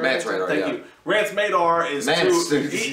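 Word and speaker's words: Mance Rayder: But the problem is that Rance Madar... Did I say it right? Mance Radar, Thank you.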